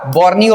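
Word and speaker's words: Borneo: Sumatra ये जावा जावा यहां पे बाली ठीक है ये बताओ ये बताओ तिमोर उसके बाद ये बताओ बर्नियो नहीं बोर्नियो बर्नियो बोर्नियो फ्रेंकोइस बर्नियर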